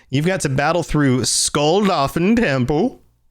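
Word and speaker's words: Skuldafn: So, you've got to battle through Skull Doin Temple. Did I say that right? Yeah. No, that that pronunciation was spot on.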